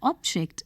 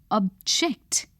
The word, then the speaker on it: object: you will notice that when used as a noun the word carries the stress on the first syllable when used as a